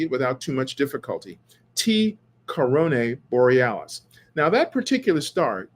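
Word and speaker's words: T Coronae Borealis: have been talking about is a star called T Corona Borealis I should really say it properly T Corona Borealis now Corona Borealis is a constellation uh between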